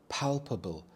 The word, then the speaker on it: palpable: a simple meal palpable palpable the stress is on the first syllable pal palpable this is something